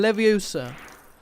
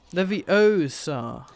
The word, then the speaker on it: Leviosa: in a minute yeah here we go wingardium leviosa leviosa vanguardium leviosa it's weird to pronounce it like that because that's what hermione